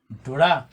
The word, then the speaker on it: ntura: Another word for us to finish this is ntura. Ntura. I'm getting out. Because we have that represents me, Tura is get out that has two syllables, tu and ra.